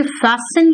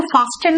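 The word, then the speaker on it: fasten: चलो, अगर मैं अपने सीट बेल्ट को बांधने की बात करूं तो कहूं कि फैस्टन योर सीट बेल्ट। बेटा इसको फास्टन मत कहना, टी यहां पे साइलेंट होता है, ठीक है?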